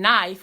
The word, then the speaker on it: knife: In knife, we say Knife. Why not knife? Why knife? Why isn't it spelled Naif?